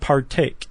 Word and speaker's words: partake: And the example this article gives is the word partake. Yeah. Right? So par is unstressed. Take has a little more of a stress to it, right?